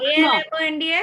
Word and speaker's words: almonds: A-L-M-O-N-D-S. Almond. Almonds. Almonds. L is silent.